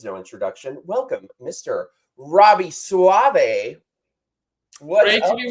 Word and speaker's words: Soave: Robby Soave.